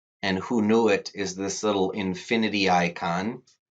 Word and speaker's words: Hoonuit: And you'll find out some skills through a tool on Rapid Identity called Who Knew It? And that is spelled HOONUIT. And Who Knew It is this little infinity icon.